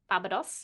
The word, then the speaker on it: Barbados: She grew up in a Sorry, could you pronounce it right? Barbados.